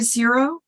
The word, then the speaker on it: Xero: it but she had said my last name correctly the same pronunciation as zero which was unusual yes